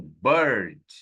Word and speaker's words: bird: Tem a última arremate aqui, ó, que é o som exótico da letra I. Para falar passarinho, eu falo um som de eu falo bird, first girl.